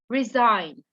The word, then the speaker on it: resign: resign okay guys so usually when we say when we actually find uh the word the letter g before the letter n the letter g becomes silent look at here look at